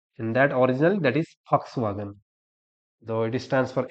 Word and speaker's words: Volkswagen: Volkswagen is written in English. You can read as Volkswagen, but exactly that is a Germany company, and that pronunciation in German language, that is Volkswagen. That is Volkswagen, not Volkswagen.